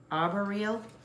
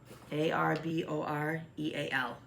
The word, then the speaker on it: arboreal: Arboreal, arbor as in tree. ARBOREAL. Arboreal. I put the syllable on the wrong accent.